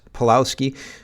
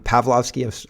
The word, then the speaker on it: Pavlovski: the CEO of Rumble Chris palowski palowski I'm getting his name wrong I'm pavlovski I'm sorry uh it's